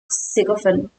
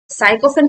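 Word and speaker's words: sycophant: या फिर अब बूट लिकर्स, इन दोनों का मीनिंग होता है सिकोफेन, सिकोफेन। तो इसका क्या होता है, साइकोफेन कुछ लोग प्रोनाउंस करते हैं, साइकोफेन या सिकोफेन दोनों भी सही हो।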